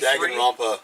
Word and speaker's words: Danganronpa: Danganronpa V3. Danganronpa.